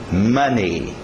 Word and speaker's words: money: Letra O não é o O do português. É esse grupo aqui dos As. Mother, son, ok? Money. Som de A.